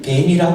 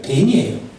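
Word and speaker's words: בן: 그리고 아들을 벤이라고 그래요. 돌은 에벤, 아들은 벤이에요. 그렇다면 발음이 비슷하죠. 에벤과 벤, 돌과 이 아들은 히브리 말로는 발음이 비슷해요.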